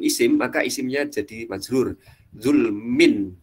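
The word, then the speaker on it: ظلم: Zulmin, dibacanya min bukan zulman atau zulmun, jadi zulmin karena ada bi di sini.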